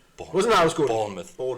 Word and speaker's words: Bournemouth: Bournemouth. Bournemouth.